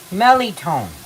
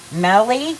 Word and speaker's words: mirliton: How do you pronounce that vegetable? Mirliton. Melly, like melly belly?